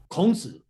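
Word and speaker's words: 孔子: How do you pronounce Confucius? In Chinese, in Mandarin? 孔子.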